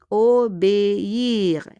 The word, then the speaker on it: obéir: Obéir. Accent aigu, on prononce le E.